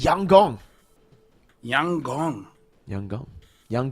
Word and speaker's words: Yangon: By the way, Lfell, apparently YG is pronounced Yang Gong.